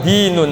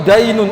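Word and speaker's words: دين: ini adalah dinun agama Awas dibacanya dalnya kasrah jangan fathah kalau fathah repot hadal ilmu dainun ilmu ini adalah ilmu hutang maka telitilah kamu pengin ngambil hutangnya ke siapa kalau dibacanya fathah maka dibacanya kasr hadal ilmu dinun ilmu ini adalah agama jadi luar biasanya Islam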